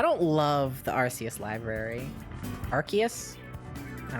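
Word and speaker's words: Arceus: that they won't let me pronounce rcus as rcus and Pokemon say oh it's archus and they made a game to prove it so I'm calling it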